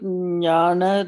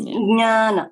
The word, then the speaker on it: Jnana: And I would probably stick with Jnana, like that's how we pronounce it, like Nya. So yes. When you say that letters in, that's what. Pronunciation. Mm-hmm. That is Jnana.